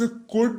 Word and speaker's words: could: अगला शब्द है हमारे पास कुड, COULD, एल रहेगा साइलेंट और इसका अर्थ होता है सका, सकी, सके, या सकता था, सकती थी, सकते थे।